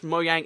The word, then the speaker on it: Mojang: called Mojang, it's because in Swedish, by the way, that's why I pronounce it Mojang, because that's the official pronunciation. In Swedish, Mojang is roughly synonymous to